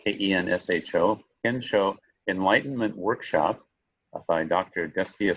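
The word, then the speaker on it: Kensho: We have coming up a Ken Show, that's spelled K-E-N-S-H-O, Ken Show Enlightenment Workshop by Dr.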